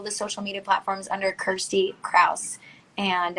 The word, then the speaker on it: Kirstie: social media platforms under kirsty krauss and it's kirsty like you pronounce it like thirsty but um yeah just